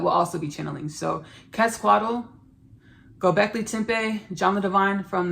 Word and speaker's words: Quetzalcoatl: Y'all, I want to pronounce this right because he wanted me to pronounce it in a specific way. Quetzalcoatl.